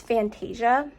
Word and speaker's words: Fantasia: is fan fan okay it's Fantasia is how you pronounce it but the song is